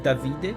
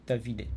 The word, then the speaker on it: Davide: But, Italian David is like Davide. So, not not exactly Davi but they say Davide.